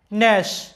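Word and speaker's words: gnash: একটা সিলেবল, কারণ এই শব্দটা একবার উচ্চারণ করা হয় ন্যাশ। আর এই শব্দে এন এর আগে জি আছে, যার কারণে জিটা সাইলেন্ট, জিটার কোনো উচ্চারণ নাই, ন্যাশ, যেটার বাংলা অর্থটা হচ্ছে দাঁতে দাঁতে ঘষা বা কর্মর শব্দ করা।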